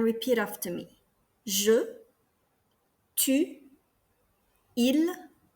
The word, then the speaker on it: ils: of il, elle, and il, elle. They are pronounced exactly the same. The S here is mute. You do not pronounce the S.